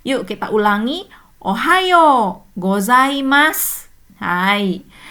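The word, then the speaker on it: おはようございます: Meskipun di sini pakai su di belakangnya tapi enggak jelas-ya. Jadi cuman s-nya aja ya. U-nya lesat. Hai. Yuk kita ulangi. Ohao gozaimas.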